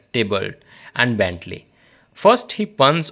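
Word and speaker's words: Theobald: He then damps by praising Dubald pronounced and often spelled table and Bentley.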